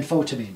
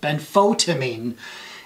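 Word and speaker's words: benfotiamine: milligrams twice a day than photivine sorry i mispronounced it ben photamine is a better more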